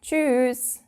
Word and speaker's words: tschüss: But we actually pronounce it a bit longer. We tend to say tschüss. I don't know why that is. It might sound a bit weird, but yeah, that's just what we do.